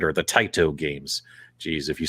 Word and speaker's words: Taito: everybody saying hey here's your codes for the tato games right or the taito games geez if you say it wrong there's